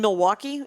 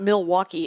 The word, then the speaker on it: Milwaukee: like when I said the word Oregon isn't pronounced Oregon it's Oregon and in Wisconsin yeah and Milwaukee is not Milwaukee its Milwaukee Noel there's a lot IDL okay